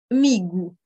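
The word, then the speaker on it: amigo: on va le retrouver pour prononcer la lettre o quand elle est enfin de mots par exemple le mot ami migou le troisième point qui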